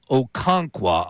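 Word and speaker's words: Okonkwo: Uh Okonqua, I believe is how you pronounce his last name.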